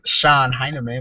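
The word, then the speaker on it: Shon Hynman: media um my name my name is Sean Sean heinerman but it's spelled h s h o n h y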